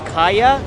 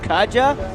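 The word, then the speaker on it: Kaja: so don't know actually kaya is pronounced as kaya not Katja so I just said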